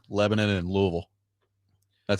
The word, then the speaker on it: Louisville: Uh Adam in Portland asking how we say Lebanon and Louisville. That's how I say it. Lebanon, Louisville.